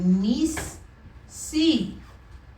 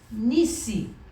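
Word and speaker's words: Nissi: We say nisi. You see what I'm trying to tell you? Yeah. We have two of them there, but we're not pronouncing them individually. They both just kind of blend together.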